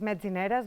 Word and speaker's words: Metzineres: Yeah, let's begin first for our name that is really difficult to pronounce here. It's Metzineres.